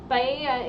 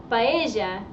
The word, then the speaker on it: paella: Paella is Mexican. Paella is how we say it in Argentina.